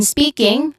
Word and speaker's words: speaking: Then speaking, spe, which is the first syllable is a stress syllable, has a long e sound, and then king has a short e sound with an ng or nasal sound at the end.